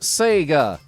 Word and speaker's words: Sega: clever trousers look like says mike Bowden it's pronounced Sega so now you know my special clever trous